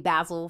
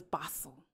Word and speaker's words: Basel: I've been saying Basel forever. And the way it's spelled, you would think it would be Basel too. So yeah. Yeah, but it's like, it's European or German or something. So it's Basel.